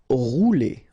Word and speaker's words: rouler: Rouler. Okay, remember when you get this O and U together, you get the sound OU. Okay, rouler.